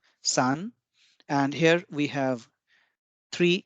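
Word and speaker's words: さん: shorter than the lower one three is called Sun and here we have three horizontal lines for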